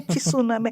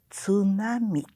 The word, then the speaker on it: tsunami: né dão notícia e fala tsunami ai meu deus do céu não é tsunami é tsunami é tá né Eh